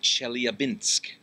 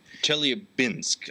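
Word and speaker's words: Chelyabinsk: the Russian city of chel abinsk chel abinsk I had I had Chet in my head for some reason but that's not right you have good pronunciation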